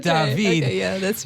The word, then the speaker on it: David: As Natalie would know from her 4 years of learning about Paris, it's pronounced not David, but David.